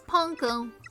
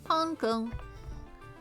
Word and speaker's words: Panco: Panco. Okay. But I I I can't see how that would be pronounced differently. The way he spelled it. It's like the panco breading stuff you can get on things.